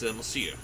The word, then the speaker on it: Monsieur: How do you pronounce that? It's Monsieur.